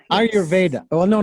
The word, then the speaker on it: Ayurveda: You are also a teacher, if you will, or sort of a master of if I pronounce this correctly, Ayurveda. Ayurveda. Yes. Ayurveda.